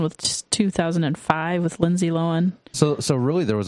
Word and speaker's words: Lohan: the original one because Lindsay Lowen is in the 2005 one that's Lohan and Lohan there you gotta say it right oh my she's still